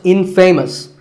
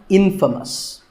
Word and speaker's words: infamous: famous for something bad but it's not pronounced infamous it's pronounced infamous all right i hope